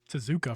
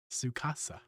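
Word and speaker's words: Sucasa: that out real fast i've been calling you to zooka for a while sukasa cause you know reading is hard uh i also i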